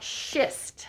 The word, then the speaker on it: schist: this rack right here this is called schist spell it please and spell it correctly s c h i s t so if i say to you oh shift i am talking about rocks okay i'm not swearing at